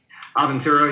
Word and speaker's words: Aventura: Aventura? Aventura, yeah.